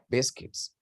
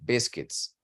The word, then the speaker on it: biscuits: Biscuits. Okay. Pay attention to the pronunciation of that word, biscuits. It's not biscuits. The U is not, it's silent.